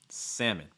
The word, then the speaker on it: salmon: or things like that typically that l is going to go silent in north america i would say okay notice also that second syllable is going to take a short i sound like e okay like quit or live salmon alaskan union is